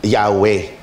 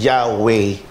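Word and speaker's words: Yahweh: kaibigan Ito po ay popularly ah as mentioned yahwe yahwe ang talagang pronunciation Eh bakit ho hindi tayo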